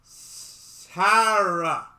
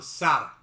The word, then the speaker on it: Sara: because, according to her, I pronounce her name wrong. In her tongue, it should be Sara. My language skills default to Sara.